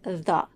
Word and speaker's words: the: it pay attention to the word the in this phrase It's not the it's the with the schwa at the end because it precedes the consonant sound and it is unstressed again in the word